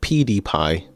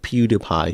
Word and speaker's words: PewDiePie: Logan Paul, not him, but the other YouTuber PewDiePie. Is it PewDiePie? Pewdiepie. Yeah, him. Yeah. Let me um get this one up. Pie. That's it. Pewdiepie. No, it's PewDiePie.